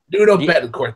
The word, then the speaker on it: Nuno Bettencourt: Sean, I can't even pronounce his name properly without butchering it. Nuno Bettencourt. Nuno Bettencourt.